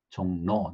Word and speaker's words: 종로: 나중에 조금씩 개정을 했는데, 예를 들어서 뭐 여기 종로 그러면은 원래대로 한다면 JONG RO일 텐데 실제 발음은 R로 발음이 되지 않죠. 그냥 니은으로 발음이 되죠. 그래서 종로, 니은으로, N으로 이렇게 표기를 한다.